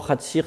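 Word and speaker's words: חציר: de l'accent, puisque forcément Chatzir s'écrit avec l'accent sur la dernière syllabe, ce qui est normal,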